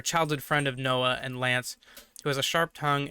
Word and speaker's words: Lanz: supposed to be pronounced lance so uh lanz i don't know if it's gonna be pronounced lance somehow but it's supposed to be lance in the japanese translation uh an ally of